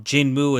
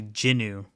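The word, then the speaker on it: Jinwoo: a real that um jinmu is how you americanize it's like a mispronunciation of the name it's actually jinu which I guess the W is silent so jinu he's in the created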